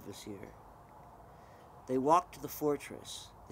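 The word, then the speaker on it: Kvasir: sorry it's spelled k v a s i r but it's just you just don't pronounce the k it's just vasir um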